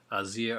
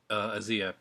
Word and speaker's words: Asia Argento: amazing, and she is Asia Argento. Uh, some people pronounce it Asia, but Azia is pretty much, from what I've heard, that's the actual pronunciation of her name.